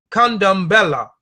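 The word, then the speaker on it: Candomblé: down Bala come down by the Portuguese pronounced condom Bella that's in other of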